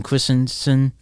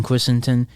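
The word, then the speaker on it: Christensen: though um seeing Hayden Christenson I pronounced it wrong Hayden christon and you and McGregor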